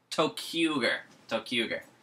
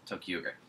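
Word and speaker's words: ToQger: Tokuger. That's the name of the train one. Tokuger.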